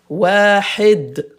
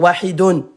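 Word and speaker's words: واحد: Donc à l'arrêt hop devient wahid. Je répète uniquement dans la prononciation. On l'écrit mais on le prononce pas à l'arrêt. Wahid ! Ça y est, j'ai fini. Hop, stop. Je veux pas dire widon point.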